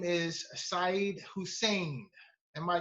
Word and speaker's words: Sayd: His name is Said Hussain. Am I correct? Is that the correct pronunciation? Said, right? Said, yes, Said Hussain.